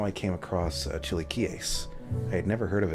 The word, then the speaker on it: chilaquiles: In the videos where I've seen it being made by people of Mexican descent, they pronounced it as chilaquiles. So that's the pronunciation I'm going with.